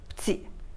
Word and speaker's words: petit: Quand on parle vite, on prononce petit parce qu'on enlève le E, il y a beaucoup de E qui disparaissent quand on parle normalement, normalement, normalement.